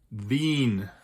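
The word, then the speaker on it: Wien: far is its capital which in German is pronounced V Vienna in English so it does have an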